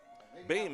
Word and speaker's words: Boehm: Boehm is spelled b o e h m, pronounces it Boehm.